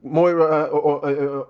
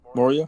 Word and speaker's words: Moria: Moria. Moria. I'm I'm confusing his name with somebody else's. Moria. Moira. Say Moira is a character from Overwatch.